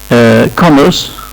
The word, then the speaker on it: commerce: البريتش ما بينطقوش الار اللي قبل الساكن، لو في بعدها ساكن الار ما بتنطقش في البريتش. الامريكان بينطقوا الار في كل المواقع. commerce احنا قلنا ده بالنسبة لي الباتشلرز ديجري اللي هو درجة الايه؟